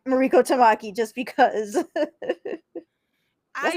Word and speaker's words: Mariko Tamaki: Well, with the Japanese pronunciation, it's Mariko Tamaki.